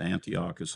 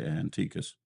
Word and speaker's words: Antiochus: And some people pronounce it Antiochus, I say Antiochus.